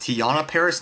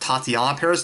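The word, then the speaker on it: Teyonah Parris: So it's actually pronounced Tiana Paris, not Tatiana Paris. Don't ask me where I got Tatiana Paris from. I must have heard somewhere before, but it's Tiana Paris.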